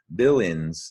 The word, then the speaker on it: villains: Villains is only a 2-syllable word. And notice I took the A out because you hear villains, villains. So you're going to need to recall it's AIN.